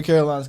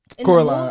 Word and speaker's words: Coraline: What was the What was the first name for Caroline's cat? Coraline.